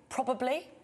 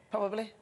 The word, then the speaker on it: probably: Well, specifically, probably... Probably, specifically. Probably. People sort of... Probably. ..forget the second B.